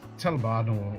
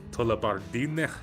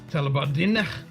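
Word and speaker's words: Tullibardine: Or it's supposed to be pronounced Tullabardine. Tullabardine.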